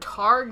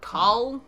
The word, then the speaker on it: Taargh: See, I pronounced that Taargh, not Taargh.